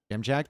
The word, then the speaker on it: Dziamdziak: go for a sneaky you know how to pronounce Jam Jack because I've been told in the past or he might sneak